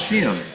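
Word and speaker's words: Sheehan: That's how you pronounce Shian. What's that? Ian. Yeah. People go she know it's like Ian only with a Oh, it's an honor.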